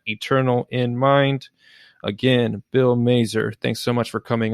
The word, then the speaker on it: Mazer: appreciate it so again his name is bill mazer rhymes with laser he is teaching men